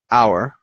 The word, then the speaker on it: hour: say I'll see you in an hour because it sounds like just our right so and by